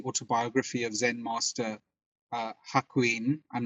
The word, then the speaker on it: Hakuin: which is the autobiography of zen master uh hakuin i'm not sure i've pronounced his name correctly yes haquin but he i mean he talks in in